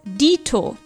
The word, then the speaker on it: dito: italian deito in german we also use this phrase but we write and pronounce it slightly differently as dito evely derives from evolution